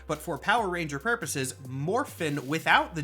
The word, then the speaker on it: Morphin: come back to one concept Morphin and I did not pronounce it like that coincidentally I did that on purpose because that is canonically how it is spelled moring with a g on the end is of course